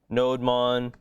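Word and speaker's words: nodemon: is a thing called node Mon right so you can install node Mon if you ask different people they'll pronounce it differently some people say no demon it kind of looks like no demon this stop bad demon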